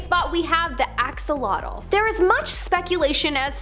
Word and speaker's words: axolotl: Coming up at our number 8 spot, we have the axolotl. There is much speculation as to how to pronounce the name of this creature, but for the most part, most people believe that it is axolotl.